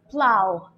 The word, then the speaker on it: plough: one is pronounced doe the third one is pronounced plough the fourth one is pronounced Bao let's go